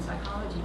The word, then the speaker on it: psychology: they pH pH or a silent P like in Psychology oh silent P it's